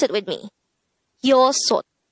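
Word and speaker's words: 여섯: Next, the native Korean version of number 6 is yosot. Again, yosot. This is composed of two syllables. The first syllable is yo, the second syllable is sot. Pronounce it with me. Yosot. Yosot.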